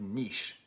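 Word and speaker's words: Niš: was a workers protest in the town of niche okay nis is how it's spelled and this guy gets up and he's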